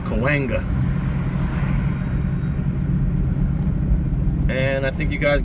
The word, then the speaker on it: Cahuenga: whole Chumash Indian word you can always tell someone's not from LA when they cannot pronounce that Street I've heard that Street pronounced about four or five different ways but you out-of-towners it's Kalinga and I think you